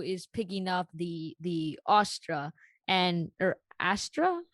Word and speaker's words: astra: that when aru is picking up the the astra and or astra how do you say it you said it right austra um and she says that only another pandava